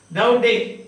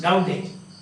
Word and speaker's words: Daudet: Daudet, E-T is not pronounced, Daudet. That's all, Daudet. The French, most of the time you will find that the last syllable is silent, Daudet.